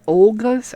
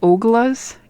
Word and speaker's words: Olga's: But, yeah, we used to eat at Olga's all the time. But I have trouble pronouncing things, in case you hadn't noticed. So I always call it Ogla's, even though it's Olga. I know that.